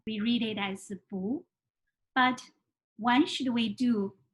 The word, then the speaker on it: 不: the tone when we read this character book but before we get started i want to